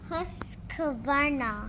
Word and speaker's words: Husqvarna: Husqvarna It's pronounced like Husqvarna.